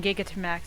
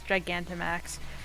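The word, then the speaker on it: Gigantamax: cuz I said I I keep saying giggity max that's Giganta max Giganta max writes when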